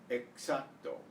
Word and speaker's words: exacto: The X is usually pronounced KS, as it is in English, box and sax. Before a consonant, however, it's pronounced usually like the S of the English C.